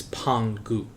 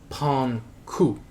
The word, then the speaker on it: Pangu: And that involves the god known as Pangu, or Panku, depending on the pronunciation.